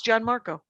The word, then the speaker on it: Gianmarco: It's not Gian. I want to Italian it. It's Gianmarco Soresi.